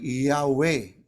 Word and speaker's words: Yahweh: Kung mabibigkasin niyan po ay Yahweh.